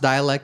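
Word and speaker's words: Dälek: It's pronounced Dalek but it's spelled d a l e k. Uh uh so Dalek but uh the a has two dots over it which is why it's pronounced Dalek.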